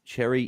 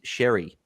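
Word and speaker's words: Xerri: Um, wealth creator says here, um, says, "I live in Malta and, um, Cherry is a multi-sername. Correct. Correct pronunciation is Sherry."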